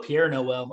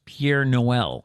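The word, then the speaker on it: Père Noël: for doug i put pierre noel i don't know i thought i heard that in the movie it is spelled p-e-r-e it is pier noel shut your mouth it's not pierre but it's p-e-r-e so what is the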